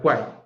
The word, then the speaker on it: Quine: Entonces, se escribe Quine, pero se pronuncia Quine, ¿vale?